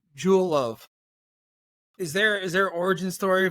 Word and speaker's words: Jewel: So in Mexico, it's hard to pronounce Jewel. The J is tough. It becomes like well, so something like that.